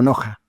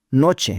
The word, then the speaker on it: Knoche: Sí, se escribe K-Noche, pero en español se lee como Noja.